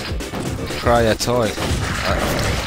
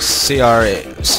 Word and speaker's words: Cryaotic: I've been watching Cryatoy. I can never pronounce his name properly. I just call him Cryot. But Cryaotic. That's how you pronounce it.